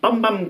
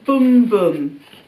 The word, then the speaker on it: Bum Bum: was but it was a pronounced boom boom that's what it says